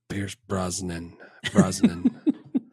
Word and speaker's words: Pierce Brosnan: Pierce Brosnan.